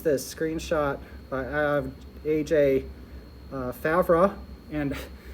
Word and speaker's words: Favre: have aj fabra and i'm horrible at french names so i actually looked that up before coming and i think uh you you're a native or fluent in french so how's my pronunciation it's pretty good favre okay and anyway it's maybe like this something like that but this is a